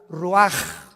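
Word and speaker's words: רוּחַ: Roach así como suena se pronuncia la c en hebreo como J ruaj se le só y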